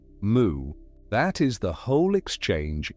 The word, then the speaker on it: Mu: And he said, "Moo." That is the whole exchange in one form, a question and a single syllable. "Moo." The Japanese reading of the Chinese character "wu" written "wu".